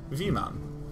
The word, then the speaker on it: Weeman: Oh, Weeman says for reference is pronounced V-Man.